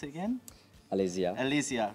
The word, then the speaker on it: Alesia: How do you pronounce it again? Alesia.